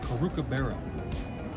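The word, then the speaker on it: Caru' cu Bere: it's not pronounced cracker barrel but it's it's pronounced karuka baro we don't know that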